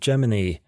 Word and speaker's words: Gemini: He goes by the name of Gemini, pronounced in a similar manner to Disney's Jiminy Cricket.